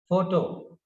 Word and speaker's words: photo: Then the next word is photo. PHOTO. Here PH is pronounced as f, therefore photo.